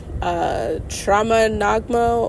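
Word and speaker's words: Troma Nagmo: where they talk about, Trauma Nagmo, or is it Tragma Nam? I think it's Trauma, like trauma almost. Yeah, Nagmo. I think that's how you say it.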